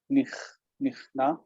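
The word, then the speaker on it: נכנע: Nikna is to humble oneself or to submit. Yeah, so make sure to pronounce the kaf is kha, nichna. Nichna.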